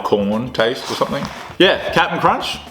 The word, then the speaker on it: Cap'n Crunch: Captain Crunch. Or Captain Cap'n Crunch. Cap'n Crunch. Wouldn't it be C-A-P-T-N? Captain Crunch? Do you say it like that?